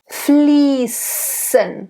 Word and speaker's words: fließen: It's a sharp S. You will often still see it as this, you know, it looks like a B. So fließen. Very sharp S. We actually, in fact, call it a sharp S in German.